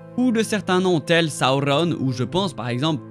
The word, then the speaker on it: Sauron: Langage dans lequel les R sont roulés et la plupart des syllabes de fin sont prononcées entièrement, Sauron et non Sauron.